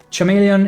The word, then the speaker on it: chameleon: Chameleon is pronounced as chameleon.